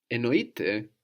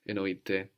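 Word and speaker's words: εννοείται: Enoite, spelled with AI on the end, it is meant, means of course or for sure.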